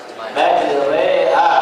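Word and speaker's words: مجريها: Ya, Bismillahi majreha, bacanya tulisannya majroha.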